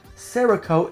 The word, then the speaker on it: Cerakote: gorgeous um it's got cerakote i believe that's how you say it sarah coat and um that's basically